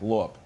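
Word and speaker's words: лоб: And the B in lob sounds like lop.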